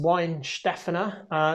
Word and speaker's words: Weihenstephaner: Weihenstephaner. It's pronounced Weihenstephaner.